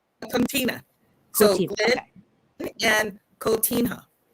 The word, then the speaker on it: Coutinho: So when Elan said I'd like to have the Harcourts on, not the Harcourts, sorry, how do you pronounce their last name? Coutinho.